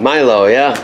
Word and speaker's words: Milo: I said it right, Milo, right? Milo, yeah.